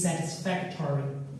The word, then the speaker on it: satisfactory: Your performance is satisfactory. 你们的表现是令人满意的。Okay, I'm satisfied with your performance. 我对你们的表现很满意。如果是我的话，就是 satisfied。如果是你们的表现，就是 satisfactory。如果是我满意，就是 I'm satisfied with your performance。我对你们的表现很满意。满意的意思。如果是英文当中，就是英国人发音，就是 satisfactory。哎，他就把这个吹到一起了，他把这个 o 发最后就省掉了。Factory, satisfactory，就像 factory 一样。但是如果是美国人发音，就是 satisfactory， satisfactory，就像我们刚才讲 victory，哎，是一样的，都是一个意思，一个规律啊，一个规律，对吧？一个规律。好，然后这是一个什么呢？我是法学博士，我在温州大学法学院教大学生。那么你为什么来这里做这堂公益的英语课呢？